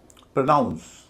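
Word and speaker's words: pronounce: प्रोनाउंस प्र हल्का है। नाउंस भारी है।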